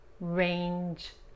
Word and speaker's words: range: Range. En singular, la G como la J en inglés.